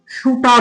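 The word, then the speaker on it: shooter: ওটি ই আর দেখ এইখানে কিন্তু আমেরিকান যখন উচ্চারণ করব তখন কিন্তু আমি সুটার উচ্চারণ করব। সুটার কিন্তু যখন ব্রিটিশদের ক্ষেত্রে উচ্চারণ করব একই বানান থাকবে কিন্তু উচ্চারণ হবে সুটা।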